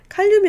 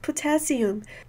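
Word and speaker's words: potassium: 칼륨이 아니라 포타시움.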